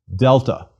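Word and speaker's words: δέλτα: Delta. Delta is equivalent to D, as in deal.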